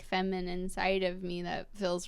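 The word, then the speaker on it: FEMI9: And it's feminine, but like it's pronounced feminine, but it's spelled F-E-M-I 9.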